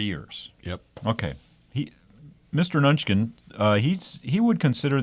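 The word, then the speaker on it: Mnuchin: I think I think the m is silent so it's Steve nunin uh he was a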